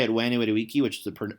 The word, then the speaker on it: Veni Vidi Vici: They pronounce it like it's Italian, so they say Veni Vidi Vici. So if you say it Veni Vidi Vici, which is the like